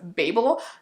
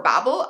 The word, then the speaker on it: Babel: literally everywhere, and that is Babel or Babel. Some of you commented on my last video and said I was saying it wrong, so maybe it's Babel, but this is by R.F.